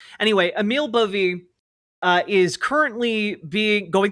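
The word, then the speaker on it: Bove: I I forget how you were supposed to pronounce his last name. I I think I heard people calling it Boet, but I think that that turned out not to be correct.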